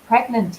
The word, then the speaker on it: pregnant: The Duchess of Cambridge announced she was pregnant yesterday. Ooh. Be careful with the pronunciation, guys, of pregnant. So we usually pronounce G and N, gn.